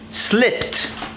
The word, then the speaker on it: slipped: Okay, so if the verb ends with a voiceless, no voice, remember from here, not here, voiceless consonant, it receives a t sound at the end. For example, slipped, right? Slipped, not slipped.